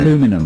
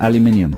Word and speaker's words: aluminium: Well, that's how the Americans say it, isn't aluminum it? Instead of aluminium.